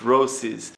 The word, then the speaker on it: Roces: This video is a skate review of the new Roces, and now I know how to say the name, it's Roces X35.